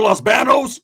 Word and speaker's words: Los Baños: We're going to go to Los Banos?